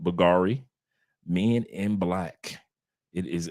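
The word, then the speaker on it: Bvlgari: here but Colona night is Bulgari even though you see that V the V is silent buari Men In Black it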